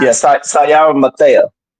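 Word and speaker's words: Sa'Yara: Yeah, Sayara Matea. Sayara. That's how you pronounce it.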